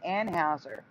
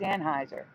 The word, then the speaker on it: Anheuser: YouTube and stuff and people were pronouncing it anhauser but I couldn't find any clips of people pronouncing it that way well now I have lips it's not an infuser no it's weird lights with on and has a bush reportedly yeah they say Anne Houser bush yeah but it's Anheuser yeah it's weird that's